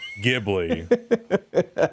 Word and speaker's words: Ghibli: How do you pronounce Ghibli? It's Ghibli.